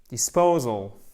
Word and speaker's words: disposal: Et ici, vous avez un I court. Disposal. Disposal. Le traitement, l'évacuation, l'élimination des déchets. Disposal. OK? Non, disposal. Il faut vraiment bien faire cet accent tonique.